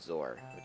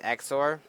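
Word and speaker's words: XOR: low overlay difference gation bitin darken green and zor zor is weird let's go with that multiply to change the scale of those rendered object down to really tiny into the roughness oh it's pronounced X or means one but not both sing be honest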